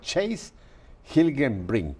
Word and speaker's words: Chase Hilgenbrinck: Su nombre no es latino, así que lo voy a pronunciar. Se llama Chase Hilgenbrink.